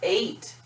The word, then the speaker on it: eight: in the one spot now eight when you try to spell it is a really challenging word it doesn't look the way you think it would 8/8 a-t-m that's what I heard anyway when I sounded out eight now is this the same thing as the number eight no of course not this is eight as in like I ate food now eight is different